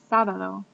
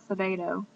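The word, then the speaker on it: sábado: sabado sabado means Saturday notice it has an accent on the a sabado it's not Sabo sabado and Domingo Domingo means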